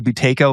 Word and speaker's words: Buteyko: And I don't even know how to, again, I can barely speak English, to pronounce this person's name. The Buteyko method of breathing.